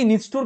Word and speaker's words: নিষ্ঠুর: তাহলে এটা আসে কি নিষ্ঠুর কে আমরা কিভাবে উচ্চারণ করি নিশ যুগ ঠুর নিষ্ঠুর নিষ্ঠুর এর মানে একবার নিশ উচ্চারণ করেছো আরেকবার ঠুর উচ্চারণ করেছ এবার আমরা দেখব এখানে